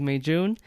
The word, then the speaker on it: Meijun: But hello, my name is May Jun. I use this icebreaker all the time. Everyone knows it's like May, June, July, August. So that's how you pronounce my name.